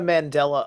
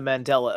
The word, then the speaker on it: Mandela: people that know the Mandela effect is real and also can possibly be admit to themselves that also some of it is misremembering. Are you saying Mandela? Mandela effect. It's it's pronounced mandala.